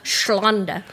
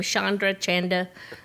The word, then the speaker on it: Chonda: a I spell it correctly. PH in the front. The PH. PHLONDA. Yeah, Shonda. What? Say that again. Shonda. So what do people call you? Everything from Chandra, Chonda.